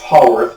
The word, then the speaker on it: Haworth: not by the way I think it's pronounced Hall worth but I've heard other other pronunciations also we can look at